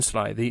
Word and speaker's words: slithy: The I in slithy is long, as in writhe, and toves is pronounced as to rhyme with groves.